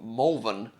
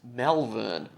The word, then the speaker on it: Malvern: I found the tape in the Melbourne suburb of Malvern, where I live at the time I recorded this, not to be confused with the Adelaide suburb that shares the same spelling, but is pronounced Malvern. Which is weird, because you'd